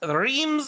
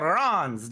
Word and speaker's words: Reims: this week we are here at Reams or Rons depending on what side of the world you want to try to pronounce it as you'll probably hear